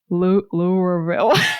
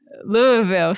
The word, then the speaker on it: Louisville: Louisville. Someone told me say it like you have marbles in your mouth.